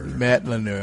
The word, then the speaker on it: Madlener: Madlener. Madlener, okay, just like it's spelled.